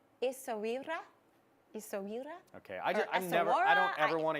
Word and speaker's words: Essaouira: I looked at English, or American, British, Arabic, and French pronunciations, and they're all different. So I went with what was kind of the American/Arabic, and it's Essaouira.